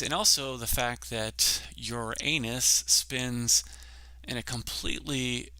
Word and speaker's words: Uranus: planets, these Uranus, and yes, I pronounce it Uranus, it is Uranus 100%.